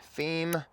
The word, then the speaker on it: Pheme: is the Brite E18 fee and I'll show you for if you're trying to spell it it's spelled with a pH p h m E18 fee stick around a few